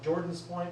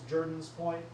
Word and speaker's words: Jordan's Point: If you read it phonetically, it's Jordan's Point, but if you pronounce it properly, it's Jordan's Point.